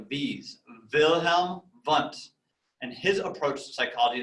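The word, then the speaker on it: Wilhelm Wundt: start at the beginning with a guy named wilhelm bunt so those w's he's german so they're pronounced like these wilhelm bunt and his approach to psychology is called structuralism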